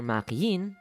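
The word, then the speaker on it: Makeine: Too Many Losing Heroines, or Makiin, yes, that's how you pronounce it, is one of the only 3 anime I've watched and actually finished from this year.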